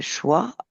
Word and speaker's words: choix: choix qui s'affiche mais en fait choix il y a un X à la fin sauf que le X n'est pas prononcé et volontaire.